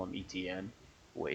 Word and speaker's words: Etienne: bring up is Travis ETN. And it's actually pronounced etchen. He said it the other day. And uh I think it's even like etchen because I think it's French and he's from Louisiana.